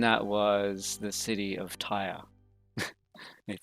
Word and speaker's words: Tyre: or purple and that was the city of Tyre it sounds like you know oh my god